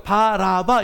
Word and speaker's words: 바라바: 원래 바 아바 이렇게 하기가 쉽지 않아요. 그러니까 바라바 이렇게 발음하는 거예요.